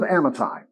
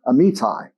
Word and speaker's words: Amittai: So the word of the Lord came to Jonah, son of Amittai, actually pronounced Amittai.